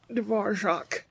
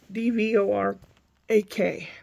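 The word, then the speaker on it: Dvořák: talking about the composer Dvorak. I called him Dvorak. D-V-O-R-A-K, Dvorak. Because I grew up where there's a lot of Bohemies, and people that I knew personally with that name pronounced it Dvorak.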